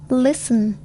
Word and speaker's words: listen: T is not pronounced in these common words: castle, Christmas, fasten, listen, often, whistle.